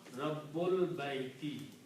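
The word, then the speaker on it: رب البيت: So again, this alif is not pronounced here when you combine of al baitu. So this becomes hamzatul wasl for the little swab.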